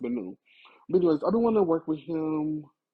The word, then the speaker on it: Min: You spell it Min, but it's pronounced Menu.